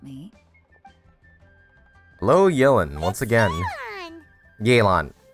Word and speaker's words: Yelan: hello yellen once again yaylon right that's how you pronounce i keep pronouncing as yellen i'm sorry for that